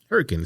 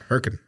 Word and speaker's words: Hurricane: next to us and it was called if you were to read it hurricane hurricane spelled like hurricane like you know the big storm in the sea they it whatever and I got there and I was educated where are you now good please do en lightness it's called herkin herkin West Virginia excuse me that's definitely